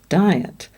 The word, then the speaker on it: diet: But in fact, it is the two-syllable word diet, and each vowel is saying its own sound.